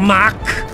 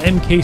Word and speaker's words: MK: know i don't know it's not luke mk not mac mac it's machine cannon i know what mk stands for i need to pronounce it like mk like mg it's machine gun it's